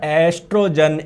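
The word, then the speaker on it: estrogen: लेकिन बोलेंगे जब ओ साइलेंट रहेगा। ठीक है? देख लो। देख लो, देख लो, देख लो। कहीं लिखा हुआ है क्या? टेस्टोस्टेरोन इन मेल और एस्ट्रोजन इन फीमेल।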